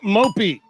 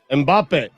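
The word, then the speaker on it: Mbappé: Mbappe. That's an M, though. Mbappe. Oh, okay. Mbappe. Like Hanson? Mbappe. Yes, just like Hanson.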